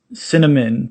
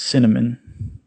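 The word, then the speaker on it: SinAmen: of you don't know it's cinnamon but it's spelt capital s i n capital a m e n but it's it's like sin amen but it's cinnamon you know anyway it's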